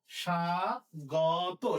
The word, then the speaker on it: স্বাগত: এরপরে এরপরে শয়ের সাথে বফল আছে। আমরা জানি যে বফল শুরুতে থাকলে বয়ের উচ্চারণ তো হয় না, তাহলে শ্বাস, যেহেতু আছে তাহলে তালু বসা হবে সা গ তো, স্বাগত, স্বাগত না কিন্তু স্বাগত, স্বাগত।